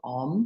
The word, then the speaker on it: Om: it this morning so breaking it into the three syllables there is a fourth component of om which is uh considered the silence after on so we have ah or um and then just as